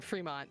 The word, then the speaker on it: Fremont: There's only one E, but yeah, I assume Seattle. I've not been there. I've only been to the name. Okay, it is Fremont.